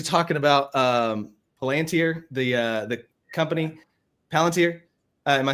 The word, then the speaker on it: Palantir: Oh yeah, tomorrow we're going to be talking about Palantir, the company, Palantir.